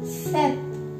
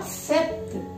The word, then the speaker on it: sept: Sept. See, in this case, P is silent. This is not sept. This is sept.